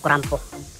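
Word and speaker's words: クランプ: So English din yung terms nila sa inano nga lang sa Japanese term, yung pagbigkas nila. So kurampo, tinatawag nilang kurampo. So clamp siya, di ba? So kurampo.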